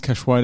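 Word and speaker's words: Cachoeira: against priscilla cash waiter i actually worked out how to pronounce that right it's cash weighed weighted now cash this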